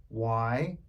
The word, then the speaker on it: Yahweh: That, when vowels are added, form the most revered Hebrew name for deity, Yahweh, spelled YAHWEH, pronounced Yahweh.